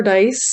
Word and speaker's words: Dyce: University of British Columbia I'm dice it's spelled dyce and I'm the CEO